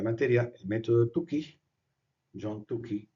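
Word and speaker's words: Tukey: El método tuki John Tuki, tuki se pronuncia con u. Si fuera c se pronunciaría taki, pero es k sola, por lo tanto se dice tuki.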